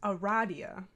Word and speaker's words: Aradia: It is pronounced Aradia. The Confirmed. funny, did you see what James posted? Maybe. That James made sure everybody knew that Andrew Hussey says it's Aradia, and that James thinks it's fucking stupid, and